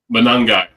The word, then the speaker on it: Monangai: Kyle Monangade. How do you say that name, Jody? Monangai.